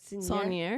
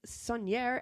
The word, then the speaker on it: Saunier: Saunier.